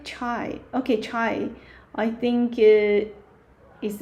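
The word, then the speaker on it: 茶: Okay, that is a character tea, cha. Interesting? So, yeah, cha, cha. So, this character, yeah, is a cha, ah, cha. Okay, I see someone yeah, comment that I like chai.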